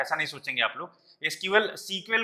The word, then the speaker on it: SQL: काफी टाइम पहले जब ये बनी थी तब इसका ओरिजिनल नाम सीक्वेल था। अभी भी कई लोग सीक्वेल बोलते हैं, सीक्वेल कई बार बोलते हैं, सीक्वेल आती है तो आप ऐसा ना सोचेंगे कि वो गलत बोल रहा है या उसको प्रोनाउंसिएशन नहीं